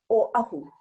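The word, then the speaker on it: Oʻahu: O'ahu. One more time. Everybody mispronounces that one, especially O'ahu. Oh, good. Next one, Molokai. Okay, there's 2 different pronunciations, and I'm from Molokai. actually from Oahu, Maui, and now Molokai.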